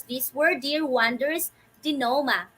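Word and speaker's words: denouement: almost done to what the resolution or the dinoma okay this is how you pronounce this word dear wonders di noma not denounment or denoment okay so this actually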